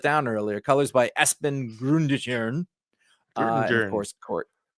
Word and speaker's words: Grundetjern: Colors by Espen Grundetjern. And of course, Court. There's no way that's not pronounced with the soft J. That is a Nordic. No, but it's a Jern. Sure. Yeah, for sure. Yeah. Grundetjern.